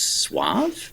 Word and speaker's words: suave: just quietly, you know it's pronounced It's actually pronounced suave, right?"